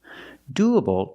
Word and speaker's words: doable: Pronunciation, doable. Doable. The stress is on the first syllable. Do. Use the long oo sound like moon and soon. Do.